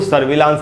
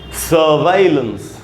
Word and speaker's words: surveillance: इसका उच्चारण दोस्तों सर्विलांस नहीं होगा, इसका प्रोनाउंसिएशन है सर्वाइलेंस।